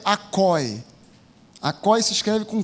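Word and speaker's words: ἀκοή: for consultar o original grego no Grego é acoi acoi se escreve com k a k o e acoi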